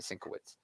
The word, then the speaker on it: Sienkiewicz: It reminds me a lot I'm of probably saying Sienkiewicz. that name wrong, but I think that's how you say it, Sienkiewicz.